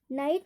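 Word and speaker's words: night: नाइट, नाइट में देखिए NIT बस, और GH क्या है, साइलेंट होता है, नाइट।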